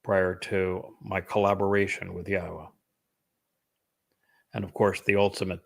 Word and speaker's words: Yahowah: I'm the first to correctly not only pronounce Yahwa's name, but to prove that the pronunciation of his name as Yahwa is accurate and reintroduce you to your God.